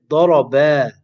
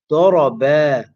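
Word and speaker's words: ضَرَبَ: For example, in order to pronounce the alif in the word daraba, daraba, the reciter will have to perform the mad at the end. You have to say ba, daraba, daraba. However, if the mad is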